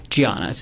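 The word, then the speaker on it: Diana: Um Giana. It's spelled with a D, but she's Brazilian. Okay. So, he was married to a woman pronounced Giana, correct?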